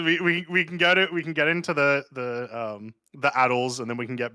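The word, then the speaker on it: ATLS: The ATLES, which is the correct way to pronounce it, it does not have a second A, and I will fight anyone who disagrees.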